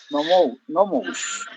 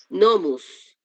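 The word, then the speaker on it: νόμους: Nomos. No escuché el verbo. O didáscolos. Didáscalos. Sí. Sí, jodidáscalos. ¿Qué dice acá? Ginosquei. Ginosquei. Tus. Nomus. Ajá. Recuerden, diptongo u.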